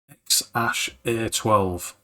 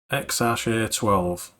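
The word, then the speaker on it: X Æ A-12: Now, just in case you're wondering, it's pronounced X-A12. X-A12.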